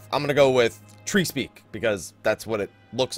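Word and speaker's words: Treespeak: Is the area tree speak in North Shroud pronounced trees or Trey's Peak, the end of a tree not stuck in the ground, or tree speak, the Arctic conversing with Flora?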